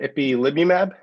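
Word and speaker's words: ipilimumab: yes alex harperson uh i believe it's uh ippylibymab correct you pronounce it exactly right yes that is correct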